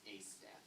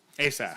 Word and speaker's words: Asaph: Just to let you know, the name that you're mispronouncing is Asaph. Asaph.